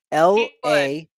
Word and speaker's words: Elehuris: So it's Elehuris, but the A has an accent.